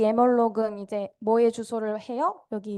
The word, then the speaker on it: malloc: 이제 emalloc 이라는 함수를 사용합니다. 이제 뭐 멀록이라고도 읽는다고 하는데 제가 1학년 때 교수님이 멀록이라고 읽지 말라고 해서 여러분들 emalloc이라고 기억해 두세요.